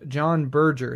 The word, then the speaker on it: John Berger: But today, we are talking about John Berger.